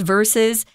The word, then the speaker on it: versus: s versus but uh we don't say vs be careful with that it's just verses and then am what's